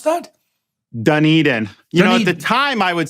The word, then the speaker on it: Dunedin: How do you pronounce that? Dunedin.